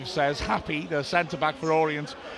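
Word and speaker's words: Happe: He's saying happy, but it's spelled H A P P E.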